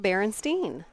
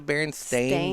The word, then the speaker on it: Berenstain: the Berenstain Bears Steve Berenstein yeah everybody remembers it as Berenstein but it's actually the Berenstain Bears that's weird yep spelled with an a I had to Google